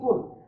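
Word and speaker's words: قُلْ: আহাদ, কুল হুয়াল্লাহু আহাদ, আমরা যেটাকে গ্রামের ভাষা বলি, তখন এটা আমরা হচ্ছে খাও আল্লাহ এক, খাও। অথচ এই জায়গায় বলছে বলুন, আর এই জায়গায় আপনি বলছেন কুল। সুতরাং এটা আমরা ভুল উচ্চারণ, আর এটা হচ্ছে সঠিক উচ্চারণ।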